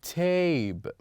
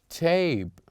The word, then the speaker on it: tape: But if we add the letter E to the word at the end of the word, then we will pronounce it A in a long, as a long vowel, or we pronounce it, we'll have longer version of A. So here it would be tab. After we add E, then the word will be tape, tape, tape.